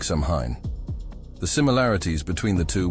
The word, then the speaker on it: Samhain: This creepy night marked the start of Samhain, pronounced Samhain, a festival from October 31st to November 1st.